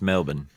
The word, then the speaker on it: Melbourne: to Melbourne in a couple of weeks it's pronounced Melbourne sorry would you mind opening that that oversized